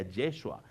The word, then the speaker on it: Yeshua: llamarás su nombre Jesús el nombre Jesús en hebreo significa o se pronuncia yeshua en hebreo y significa